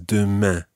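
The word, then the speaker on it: demain: get that nasal sound at the end of dooma dooma dooma dooma tibia it's not Adam ah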